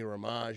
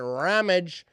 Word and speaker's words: Ramage: people's names wrong but people say my name wrong all the time I don't really have a problem with it I just glad you're say my name you know I me you want to call me raage you want to call me whatever I don't care but it's ramage all right we got